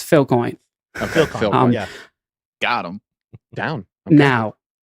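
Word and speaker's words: Filecoin: viable business uh strategy biocoin because that it doesn't actually you don't need a equal distribution geography you're pronouncing it incorrectly I don't think you've been watching the show it's Phil coin yeah got him down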